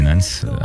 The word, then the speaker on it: Nans: Alors c'est facile, c'est Nans officiel. Donc N-A-N-S officiel. C'est ça. En fait, et ça s'écrit avec un petit accent S à côté, Nans.